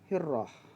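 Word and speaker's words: هرة: Tulisannya hirratun, tapi pengucapannya adalah hirrah.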